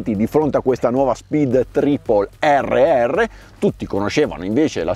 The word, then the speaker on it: Triple: Prima lezione: se dopo la vocale ci sono due consonanti , la 'i' si pronuncia 'i', quindi queste vengono chiamate Speed Triple. Triplicare. Ascolta, Triple. A proposito, anche nella gamma